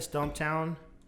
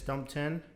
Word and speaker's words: Stumptown: So last week we had, I said Stumptown. My roommate said it's Stumpton, but it's spelled Stumptown, Stumptown.